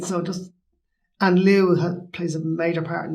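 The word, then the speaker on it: Lugh: Lu is how we pronounce them here, but I'm sure he would have been pronounced. I've seen it as L-U fada. Yeah. And even, like, no offense to people that aren't Irish, but L-U fada is easier to pronounce and just disregard the fada than the G-H. Yeah, exactly. Yeah. In a lot of Irish words, a lot of Celtic, a lot of Gaelic words, G-H is silent.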